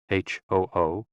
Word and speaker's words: hu: HOO, pronounced like hu, which is associated with the spleen, and XI, pronounced like shi, which connects the whole body.